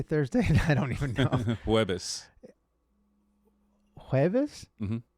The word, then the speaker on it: Jueves: Jueves. Jueves? Mm-hmm. It's almost like eggs in Portuguese. Huevos or ovos.